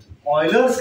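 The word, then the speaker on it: Euler's: क्योंकि उस मूवी में ऑयलर्स का जिक्र किया गया है, एंड the pronunciation was ऑयलर्स।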